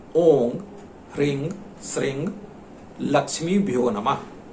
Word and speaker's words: ॐ: तो लक्ष्मी का एक बीज मंत्र है ओम ह्रीं श्रीं लक्ष्मी भ्यो नमः। ध्यान दीजिएगा, यहां मैं जब उच्चारण कर रहा हूं तो ओंग उच्चारण कर रहा हूं, ओम उच्चारण नहीं कर रहा हूं।